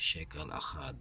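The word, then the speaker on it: שקל אחד: It is pronounced as shekel achad.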